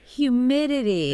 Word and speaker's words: humidity: Humidity. It's got that tricky combination of vowels and consonants. Yeah. The correct pronunciation is humidity. Humidity. With the stress on the second syllable?